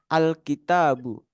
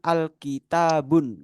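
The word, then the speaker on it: الكتاب: Contohnya adalah Alkitabu. Kita nggak bisa menyebutkan Alkitabun. Nggak bisa. Karena ada alif lamnya.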